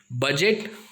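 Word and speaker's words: budget: उसके बाद बजट, बजट का मीनिंग आपको पता ही है।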